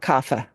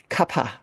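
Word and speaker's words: Kapha: Vata paa and kaapa it's not kafa Kapa k a p ha just just just as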